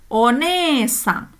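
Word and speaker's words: おねえさん: Desne bunyi e panjang pakai huruf e. Desne one e saeng. Ya, die ejanya seperti itu. Tapi kalau di em apa disebutkan dalam satu kosakata one sang ya seperti itu ya. Lima ketukan.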